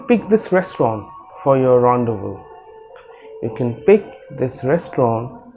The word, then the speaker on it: rendezvous: to be really interesting because you have to pronounce this word really carefully the word is rundown rendezvous now when you see the spelling of this word you will think that it is rhonda's first but that's not the correct way of pronouncing